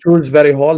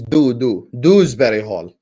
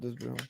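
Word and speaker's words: Dewsbury-Hall: Stop calling him Shrewsbury Hall. His name is Dewsbury Hall. No. D-E-W. No. Shrewsbury Hall. Not Dewsbury Hall.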